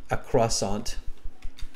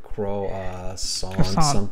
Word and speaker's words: croissant: interesting, and I eat my favorite snack, a croissant. I can never spell it, French word, croissant, something like that.